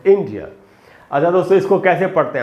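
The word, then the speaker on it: India: अच्छा दोस्तों, इसमें जो ई है वो बड़ी ई है और वहीं पर ज़्यादा देर तक रुकना है आपको, वहीं पर स्ट्रेस है, जो सिलेबल स्ट्रेस वहीं पर है।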